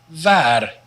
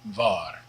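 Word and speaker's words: waar: dot var means where the w is just like the v like in vot but the double a here is long so it's an ah and not an ah so and not var and remember to roll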